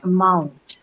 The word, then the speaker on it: amount: attention to the amount listen to this word carefully as I say amount um the second right now study mom so what the syllable is the second one a mount and the reason being